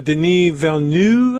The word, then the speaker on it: Denis Villeneuve: Director Denis Villeneuve is how they actually pronounce his name.